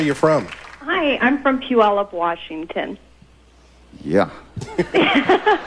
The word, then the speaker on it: Puyallup: Bowie this is tell them where you're from hi I'm from Puyallup Washington yeah Puyallup yes fine don't let that go completely it